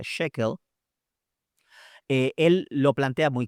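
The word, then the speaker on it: Schökel: Luis Alonso shequel que algunos dicen sequel O shel pero se pronuncia shequel eh él lo plantea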